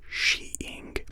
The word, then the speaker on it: skiing: The narrator and the opening titles mention an alternate and correct pronunciation of skiing as sheeing, despite the narrator mostly pronouncing it vice versa throughout the short.